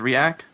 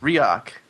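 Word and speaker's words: Riak: about last night uh when it was Rak riok riok there you go I pronounced it incorrectly every time it's spelled r i a k right r i a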